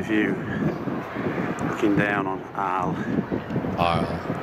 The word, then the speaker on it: Arles: Arles. I guess the S is not pronounced.